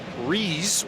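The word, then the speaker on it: Ruiz: And having a terrific freshman year, Brandon Rees. And yes, that is how he and his family pronounce the name.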